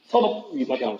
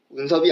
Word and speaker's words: 섭위평: 그거 한국말로 뭐라 하지? 섭위평. 섭위평. 그렇죠. 운섭이 아니죠. 자, 섭입죠. 섭.